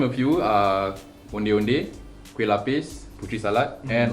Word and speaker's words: onde-onde: Okay, so the pronunciation for onde-onde is onde-onde, okay?